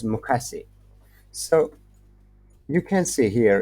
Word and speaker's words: 昔: As you see pronunciation for hiragana, it's mukasi.